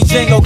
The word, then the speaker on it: Django: Now them hoes call me Django, cause the D is silent.